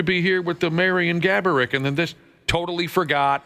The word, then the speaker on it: Gaborik: scorer in town, Marian Gorbiak. And the sales department approached me and said, hey, this Saturday afternoon, would you like to make an appearance alongside Marian Gaborik, of course, is the real pronunciation, but Josh's uncle liked